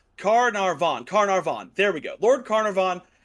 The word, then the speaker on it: Carnarvon: Howard Carter and Lord Carnarvon. I think that's how you say it. It's Carnarvon.